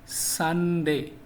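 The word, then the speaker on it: Sunday: না এস ইউ এন ডি এ ওয়াই সঠিক উচ্চারণ হচ্ছে সানডে কি হবে সানডে নাকি সানডে যারা বাংলা ইংলিশ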